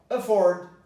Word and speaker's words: afford: Afford. Why? Well, because the stress is forward. Afford.